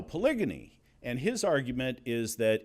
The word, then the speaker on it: polygyny: When he first said that, I said, "You're mispronouncing polygamy?" And he said, "No, polygyny."